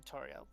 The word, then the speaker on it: Toril: Toril. As long as I'm pronouncing it right. You're back. I gotta go grab food. Toril.